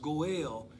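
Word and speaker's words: גואל: also referred to as goel pronounced goal in hebrew is a male relative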